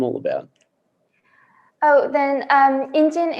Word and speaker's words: Ingine: Oh, then Ingine is the combination of two syllables. So you have in, which is the traditional, I would say, sign for a human being, a person in Korean or Sino-Korean. And Jin comes from engineering.